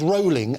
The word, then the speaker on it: Rowling: So what this story is not about, and it's Rowling, as in bowling, and that's how she pronounces her name, so revelation for everybody.